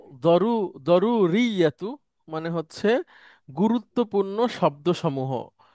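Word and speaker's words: ضروري: আর আমরা যে বলি জরুরি, জরুরি বাংলায় একটা শব্দ ব্যবহার করি, আরবিতেও এটাকে বলা হয় দুরুরি, দদ দিয়ে। তো আমাদের এখানে সেটা বর্গীয় জ দিয়ে উচ্চারণ হয়।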